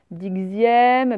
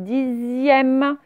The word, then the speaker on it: dixième: Alors là, attention, je pense que vous allez essayer dixième, ben non, c'est dixième. C'est l'un des rares mots où le X vaut Z.